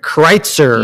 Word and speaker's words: Kritzer: Kritzer. Yes. Did I get that right? Did I pronounce it?